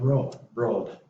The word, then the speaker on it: rolled: And same with rolled, would just pronounce the D.